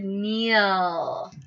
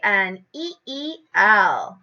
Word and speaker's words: kneel: Does anybody know which one of these we use to spell the word kneel? Do you know, Drew? KN. Excellent. So I will color the KN. Kneel is spelled KNEEL.